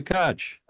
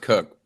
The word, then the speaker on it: Koch: Koch. It's actually pronounced Cook, but hello.